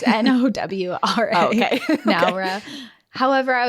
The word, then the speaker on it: Nowra: Is it like Nar? Like Nar? Nar. Nar. Nar. No, it's Nowra.